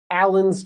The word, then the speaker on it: Alan: So Ellen with an E, Alan with an A. Okay? So be careful of your pronunciation. If you talk to a woman, it's probably Ellen. If it's a man, Alan.